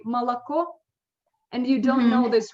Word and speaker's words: молоко: like for example, молоко, Молоко. O is under thread, the last one. That's why. Молоко. Yes, that's why I pronounce it like Malaco.